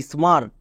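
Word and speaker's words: smart: কি দাঁড়ালো স্মার্ট তাহলে এখান থেকে মনে রাখবা ছোট শব্দ হোক এবং বড় শব্দ হোক যদি এ এর পরে আর থাকে তখন এ রুলস কাজ করে না যেমন দেখো গার্ডেন এখানেও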